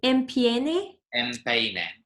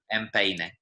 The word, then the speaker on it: empeine: Empeine. It sounds a little bit like empanada, which is the word for a pie, but yeah, empeine.